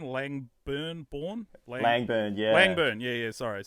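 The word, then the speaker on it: Langburne: Langburn.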